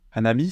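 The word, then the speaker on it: 花火: Hanabi, c'est les feux d'artifice. Alors, littéralement, c'est une fleur. Et ici, on a le kanji du feu. Ici, ça va se prononcer hanabi.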